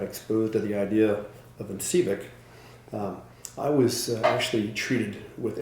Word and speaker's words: Incivek: Incivek is am I pronouncing it correctly? Incivek? Incivek.